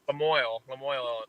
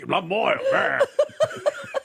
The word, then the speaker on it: Lemoyne: Lemoyne, Illinois, yeah. I tried to go French, and it's as damn as American as Lemoyne.